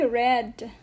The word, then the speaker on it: read: general rules and guidelines ma'am why red because it's in the past tense okay it's in the